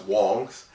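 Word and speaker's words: Wangs: so i brought my wang out so you take a look at it uh no actually this is actually pronounced wong's and this is a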